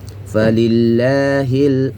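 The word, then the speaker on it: فلله: Falillahil akhiratu wal ula. Kita ulang. Falillahil akhiratu wal ula. Falillah. Dibaca la ya karena harakat sebelumnya i atau kasrah.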